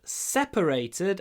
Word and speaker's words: separated: The band separated after 15 years together. Распалась, расстались. They separated. Ударение на первом слоге, и поэтому мы говорим separated.